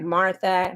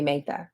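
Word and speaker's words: Mathai: as you can tell my name is MAA m a t h a i get Martha MAA maah you know all of those things but it's okay I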